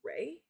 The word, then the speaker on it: Re: as sun god Ra, but apparently it's pronounced Ray or Array or something like that. And for me, I was raised saying Ra, but apparently that's like a Americanized way of saying it.